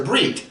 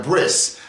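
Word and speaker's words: ברית: the planet who that whenever a word ends in a tuve they will pronounce it with an S why I don't know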